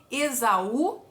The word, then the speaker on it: Esaú: Porque o U forma hiato, né? Quando a gente separa a sílaba da palavra Esaú, a letra U vai ficar sozinha na sílaba. E é a sílaba tônica ali.